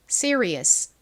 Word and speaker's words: serious: serious.이 이 r은 뒤에 몸이 오면 이게 한국식으로는 리라고 표기를 하지만 실제 발음은 입을 좀 동그리면서 발음을 하거든요. 그래서 가깝게 발음이 돼요. 자, 그럼 한번 발음 연습 해 볼까요? serious.